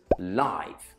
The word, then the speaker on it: live: Be careful with the pronunciation here though, because if live is an adjective, we pronounce it live.